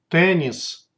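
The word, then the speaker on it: теннис: In most cases, in borrowed words, the letter ye is pronounced like e. Here are examples. Karate, karate, karate. Tennis, tennis, tennis.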